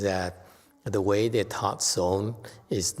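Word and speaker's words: 선: Chan is pronounced as son in Korea.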